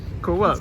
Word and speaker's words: Coop: Tá, um dos supermercados que a gente tem comprado coisas para economizar é esse aqui, Co-op. Eu tava falando Coop, mas a Rachel me corrigiu. Co-op. Co-op in English.